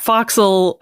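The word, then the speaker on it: fo'c'sle: you know yes and that foxel short for forec Castle which is the area of the ship below deck and forward it's often spelled f o c apostrophe s apostrophe l e yeah I know another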